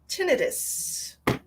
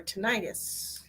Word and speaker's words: tinnitus: They call that tinnitus or tinnitus. Different pronunciations for that.